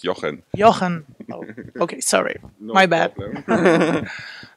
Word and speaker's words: Johan: Copenhagen I'm here with hohan hello hohan hello I pronounce it really bad right it's Yan Johan oh okay sorry my